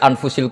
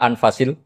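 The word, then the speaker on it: أنفس: saja di sini ditulis anfusil kutub selalu saya baca anfasil kutub karena maknanya kitab ter baik kalau kitab terbaik bacanya bukan anfus tapi apa anfas ya nanti kamu debat sendirilah sama teman-teman Ini bacanya apa?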